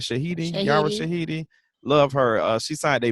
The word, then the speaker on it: Yara Shahidi: some positive news not only did our girl yara shahida did i say her name right shahid yara shahidi love her she signed a big deal we